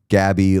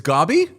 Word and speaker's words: Gabby: A good time to let you know it's Gabby like Bobby. It's Gobby?